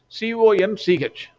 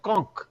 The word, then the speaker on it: conch: Conch. In American English, I think it is pronounced as conch. In other places, it is pronounced as conch. I will pronounce it as conch.